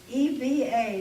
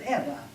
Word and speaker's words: Eva: My mother's parents' name was E-V-A. They pronounced it Eva.